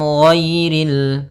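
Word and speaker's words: غَيْرِ: Ghairi ghairi. Nah ghairinnya tebal. Ghairil tapi tidak terlalu tebal sampai kepada huruf shad.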